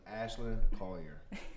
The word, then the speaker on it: Ashlynn Collier: First and last name, Ashlynn Collier.